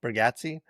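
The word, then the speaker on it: Bargatze: The Breadwinner, the Nate, I always say his name wrong, Bergazzi.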